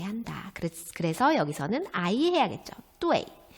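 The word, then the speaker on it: duì: 네, UEI를 표기할 때 E를 생략한다고 했습니다. 그래서 여기는 E가 아마 들어있는 발음을 해야 할 거예요. 그죠? 표기는 이렇게 하고 발음 어떻게 한다? 사성까지 넣어서 뚜웨이. 그렇죠? 빠르게 뚜웨이.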